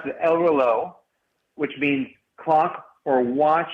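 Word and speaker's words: El Reloj: the United States so when I pronounce it El Lo I'm pronouncing it wrong well I you know I think you can pronounce a different ways of we pronounce it ELO which means clock or watch in Spanish which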